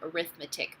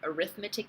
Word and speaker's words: arithmetic: There's the arithmetic, and yes, it's spelled the same as arithmetic, but arithmetic is a noun, arithmetic is an adjective.